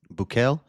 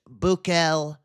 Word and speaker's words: Bukele: Bukele, on social media. Thank you to El Salvador and, in particular, President Bukele.